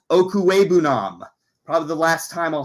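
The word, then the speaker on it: Okwuegbunam: for Albert o um nobody still can pronounce the last name as the broadcaster still continue to just say Alberto um I will say Albert okue Nam probably the last time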